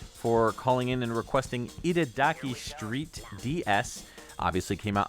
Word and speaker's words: Itadaki: I'm thinking something from Ida Duki. How do you say that? Itadaki.